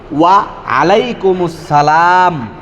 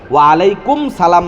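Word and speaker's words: وعليكم السلام: আর সালামের উত্তর ওয়া আলাইকুমুস সালাম। ওয়া আলাইকুমুস সালাম। মুসসালাম বলতে হবে। ওয়ালাইকুম সালাম না ওয়ালাইকুমস সালাম ওয়ারাহমাতুল্লাহি ওয়াবারাকাতুহ।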